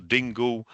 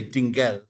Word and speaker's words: Dingle: in in a so when we return to 11 for example you you you went for dingo rather than dingle yeah but we would we wouldn't say dingle right definitely